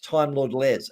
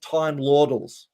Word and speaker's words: Time Lord Les: And it's at Time Lord Les. It's not at Time Lordals, but that's exactly the way you'd spell it.